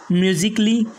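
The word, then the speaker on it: musically: इसके बाद में सेकेंड रूल है, इन चार शब्दों में ए को जो है तो साइलेंट रखना पड़ेगा, मतलब साइलेंट ही पढ़ा ही नहीं जाएगा। जैसे लॉजिकली, म्यूजिकली, रोमांटिकली, उसके बाद में है आर्टिस्टिकली, मतलब ए को नहीं पढ़ना है, लॉजिकली नहीं बल्कि लॉजिकली,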